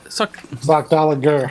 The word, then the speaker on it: Sockdolager: Sockdolager. Sockdolger Hard G.